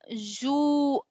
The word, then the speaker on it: juin: Then we have Juin, because IN is a nasal sound. So we pronounce it as Juin.